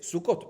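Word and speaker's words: סוכות: Entonces la escritura de las primeras dos parece ser singular, pero la pronunciación de las tres es Sukkot, plural.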